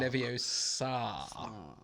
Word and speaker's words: Leviosa: It's pronounced Leviosa.